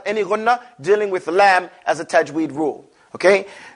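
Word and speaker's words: لام: what did i say the edge of the tongue not the tip here the edge and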